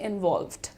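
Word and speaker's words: involved: तो मिला हुआ जुड़ा हुआ के लिए हम वर्ड यूज़ करते हैं इनवॉल्व्ड। राइट? प्रोनाउंसिएशन कैसे ठीक करेंगे इसका? इनवॉल्व्ड। इनवॉल्व्ड। एल और वी का ब्लेंडिंग है यहां पर।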